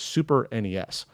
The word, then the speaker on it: SNES: never actually i said snes it's always super nes that's technically what it is an acronym is like